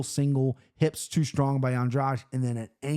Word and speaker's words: Andrade: goes, hey, bros, take Andreas. Okay, can't even pronounce her name right, Andrade.